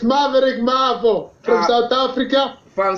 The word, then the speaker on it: Maveriq: you pronouncing are you pronouncing name how you pronounce your name it's maverick it's maverick marvel marvel marvel that sounds like